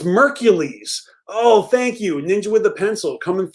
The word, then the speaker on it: Merkules: listen to him um it Rhymes oh okay it rhymes with Hercules so it's merkules oh thank you ninja with the pencil coming through the pronunciation so it's mercules featuring Bone Thugs-N-Harmony thank